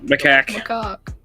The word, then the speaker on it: macaque: Macaque. No, it's No, pronounced macaque. macaque. I'm not joking. It's actually pronounced macaque.